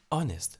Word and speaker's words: honest: Honest. H is silent.